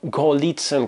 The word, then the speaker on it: Голицын: алгоритм для чистоты и причем ударение в этой фамилии ставится в зависимости от продвинутости актеров вот например omar sharif ставит ударение на первый слог и говорит ой в пнр